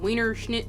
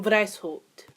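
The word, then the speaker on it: Weishaupt: right here I won't say his name Adam Wiener is that German wow it is German wow I should probably know that so the founder was actually Adam dice Holt Wow Salvatore should know how to pronounce a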